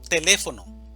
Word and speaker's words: teléfono: Teléfono, división silábica, teléfono, sílaba tónica, le, teléfono.